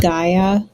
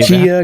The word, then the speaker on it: Gaia: Isn't it pronounced Gaia? I knew you were going to say Gia, that. Gaia. I bit my tongue. So it wouldn't be. I let that one go. Unless I pronounce something wrong. I mean, maybe I'm wrong, but I think everyone I know pronounces it Gaia.